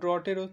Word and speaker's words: drought: সেরকম ড্রটেরও তাই, সেক্ষেত্রেও সেমই হয় উচ্চারণটা, ড্রট স্পেলিংটা DROUGHT, ইউ এর পর GH